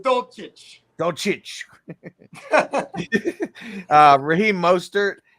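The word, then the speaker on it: Dulcich: greg dolcich is that that's the rookie uh titan pronounced dolce don't cheat uh raheem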